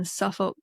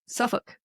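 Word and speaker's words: Suffolk: some school children in Suffuk Suffuk. Is it Suffukk? Suffuk. Yes. Suffuk England. They don't Yeah. They don't pronounce that L. Yeah. No, they in the in the UK they don't pronounce the L.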